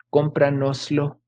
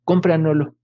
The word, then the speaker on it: cómpranoslo: Se pierde la parte final. Cómpranoslo, cómpranoslo. Y se pronuncia en las pláticas coloquiales como cómpranolo, cómpranolo, por favor, cómpranolo, cómpranolo.